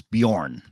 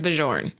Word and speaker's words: Bjorn: value of 25 bucks I will correct you on one it's Bjorn it's Bjorn I like Bjorn I'm pretty sure it's bajorn no it's Bjorn famous tennis I remember his name was Bjorn Borg or something like that it's Bjorn newtonheim or